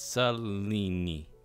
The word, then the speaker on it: Selene: I'm pretty sure I pronounced it. It's S-E-L-E-N. It's Selene.